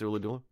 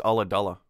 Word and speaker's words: Ulladulla: Here's how to pronounce Ooladoola. I was wrong. It's Ulladulla. Gullagulla?